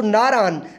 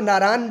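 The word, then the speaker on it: Naran: नारान, नारान की तरफ, जो नारा होता है बेसिकली नून गुन्ना के साथ, वहाँ के लोग इसको नारा पढ़ते हैं, लेकिन हमारे पास ये गलत उलाम हो चुका है, हम इसको नारान जो है ना वो लिखते और पढ़ते हैं, शायद इंग्लिश की वजह से इसका एन जो है ना वो नून पढ़ दिया जाता हो।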